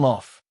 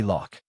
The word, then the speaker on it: loch: And Lof. They'd say lock. A lock's on a canal. A lock pronounced lof, which is as close as I can get the AI to say it, is a body of water.